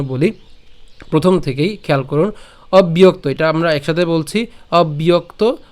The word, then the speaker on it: অব্যক্ত: তো একটু খেয়াল করুন, অবিয়ক্ত, এই যে আমি বলেছিলাম এই যে এটা একসাথে উচ্চারণ করব, অবিয়ক্ত, একসাথে বললো অবিয়ক্ত।